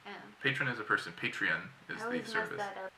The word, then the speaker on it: Patreon: Patreon. Patron is the real word, but Patreon is like the system. And then a patron is the... A patron is a person. Oh. Patron is a person. Patreon is the service.